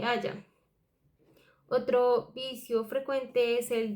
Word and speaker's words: haya: de pronunciación o escritura, como cuando se dice haiga en lugar de haya.